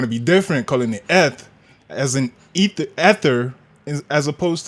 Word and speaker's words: ETH: I've read a lot of stuff that everyone says that it is actually pronounced ETH, like teeth.